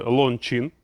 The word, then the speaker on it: Loncin: нас буде на огляді мене вже виправили в коментах двигун фірми loncin правильно читається це двигун на сім